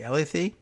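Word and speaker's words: Elleithee: more questions and answers DNC communications director Moe Ella thei how am i pronouncing that ele i th ee Ella 'they said sorry mo he does not believe ours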